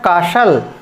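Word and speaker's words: castle: करना है, यानी कि ये आपको टी नहीं प्रोनाउंस करना है, इसको पढ़ना है कासल, और कासल माने होता है किला।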